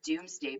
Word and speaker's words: Domesday: was actually called the Doomsday Book so it looks like domesday on here but it's pronounced doomsday um basically they called